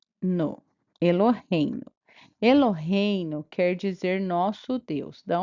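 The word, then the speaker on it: אלהינו: Então, o nome próprio do criador não é pronunciado, tá bom? Aí nós vamos para essa próxima palavra. E, lo, re, i, no. Eloheinu.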